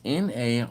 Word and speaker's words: Narragansett: lager all right can y'all and C is n-a-r-r-a-g-a-n-s-e-t-t that is pronounced Narragansett okay salud man hmm that's a